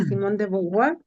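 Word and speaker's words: Simone de Beauvoir: Sí, sabes que escuchando todo esta teoría o esta filosofía, digo yo, de Simón de Beauvoir, así se pronuncia, no Ujú.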